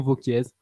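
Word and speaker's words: Wauquiez: sur la région des ronalpes au vergn Laurent vquèz des républicains V on prononce pas le Z merci et vainqueur à 40,6 %.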